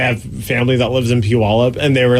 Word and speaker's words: Puyallup: family that lives in Puyallup and they were like it rhymes with gallop and I was like